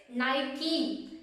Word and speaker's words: Nike: This one is Nike. Am I correct? No, it's not Nike, it's Nike.